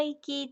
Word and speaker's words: 粋: で、江戸の粋というのは、息ですね。息と同じ読み方。